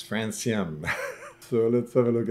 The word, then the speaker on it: Francium: By the way, it's pronounced Francium. The C is pronounced as an S because it's the name of a radioactive metal.